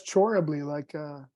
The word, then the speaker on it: Chorab Lee: See, I tried to spell it like I thought it sounded, try to pronounce it right. So that's Chorab Lee, almost like cherubim.